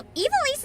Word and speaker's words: Ivalice: Elise, okay, so Ivalice is how the VA say it, then that's gotta be right.